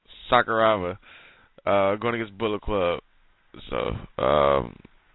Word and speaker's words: Sakuraba: Okada teaming up with Yano and Sakuraba. I'm pretty sure I got the name wrong. Going against Bullet Club. Huh? It's Sakuraba.